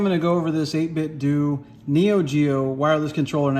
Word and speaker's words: 8BitDo: Geo wireless controller and I did say 8-bit do because that's how you're supposed to say it's like Scooby-Doo um so just it feels very uncomfortable but that's the proper way to pronounce it uh 8-bit do but